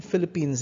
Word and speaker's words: Philippines: Now, included Philippines here. You say J'habite aux Philippines. You pronounce it as Philippine without an S.